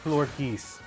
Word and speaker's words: Florges: It's pronounced Florges.